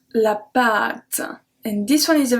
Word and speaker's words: pâte: So here you can see la pâte, and then I pronounce the A differently. La pâte à, it's a short A.